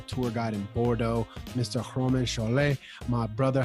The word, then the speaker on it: Romain Chollet: Okay, of course, listen 1 to French pronunciation for my name. It's Romain Chollet.